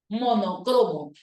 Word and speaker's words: monocromo: las pinturas rupestres monocromas con tilde en la sílaba no como si fuera esdrújula Y ahora te dicen no es esdrújula es una palabra grave y lo correcto debe ser monocromo y esa última palabrita